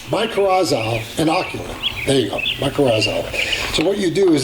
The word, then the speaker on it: mycorrhizal: to put a little bit of I always mispronounce this. Mycorrhizal inoculant. There you go, mycorrhizal.